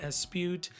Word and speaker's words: Espeut: And in France, they probably don't pronounce the T at the end, but um because my family is all from Jamaica, we pronounce the T.